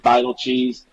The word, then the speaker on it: Beitelcheese: But Coach Van Horn said Beitelcheese.